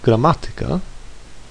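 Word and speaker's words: gramatyka: You may have noticed the way I pronounce the word grammatica. I stress the syllable ma which is third from last and not the second from last. This word is an exception to the rule like others that end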